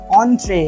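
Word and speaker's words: entrée: অ্যান্ড had given him the permanent অন্ট্রে, এটা হচ্ছে French word, এন্ট্রি নয়, এন্ট্রি যেটা আমরা বাংলায় বলি এন্ট্রি, এখানে স্পেলিংটা দেখে এন্ট্রি বানাননি, এখানে উচ্চারণটা কী হবে, ফ্রেঞ্চ ওয়ার্ড, এর উচ্চারণ হবে অন্ট্রে।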